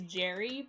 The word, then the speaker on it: Gary: i've i've decided that the alchemist name is jerry but it's spelled like gary and if you say